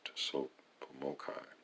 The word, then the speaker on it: TSOPAHMOCCI: conclusion considerations issue considerations s o p a h m o c c i pronounced to soap formokai and its five points